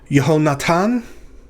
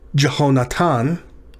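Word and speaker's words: יהונתן: Yehonatan. Yehonatan. Again, we'll replace that initial yod with a J. So if we pronounce this Jehonatan, what do you think that is? It's Jonathan.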